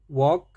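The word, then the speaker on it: walk: सीखे एफ अप टॉक वॉक डब्लू ए एल के वॉक naught L के वाल्क नहीं वॉक अब आगे देखते हैं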